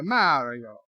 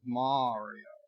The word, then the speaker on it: Mario: If you try to bribe me instead of threaten me, I might have bought into your fake pronunciation of Mario, but it's Mario.